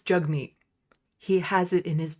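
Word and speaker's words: Jagmeet: jug meat's name right he keeps on saying jug meat it's jug meat he has it in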